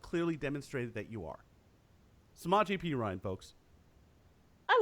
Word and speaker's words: Samaje Perine: Samaje Perine.